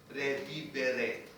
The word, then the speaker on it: revivere: And then, it also came from a Latin word which is revivere. Okay, see? Now the pronunciation is different. You have to pronounce every letter.